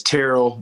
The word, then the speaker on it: Terrell: I mean, the default is T.O., but yeah, it's Terrell. But a lot of people like to mispronounce it because you would think journalists and